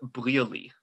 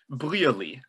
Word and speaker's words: Brearley: It is a Joseph Brearley. Joseph what, sorry? Brearley. So that's going to be B-R-E-A-R-L-E-Y, or however you find it useful to spell Brearley, so you can remember how it's pronounced.